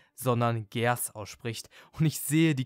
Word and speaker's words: Geass: Et avant que j'oublie : je sais que Geass ne se prononce pas Geass mais Ge Ass et je vois déjà les commentaires devant moi.